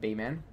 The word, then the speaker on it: Beeman: shut your mouth exactly everyone gets your name wrong is pronounced be men AHA Beeman hi welcome Beeman how's